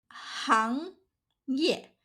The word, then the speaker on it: 行业: For example, 行业 industry, 行家 expert, 内行 professional, 外行 layman.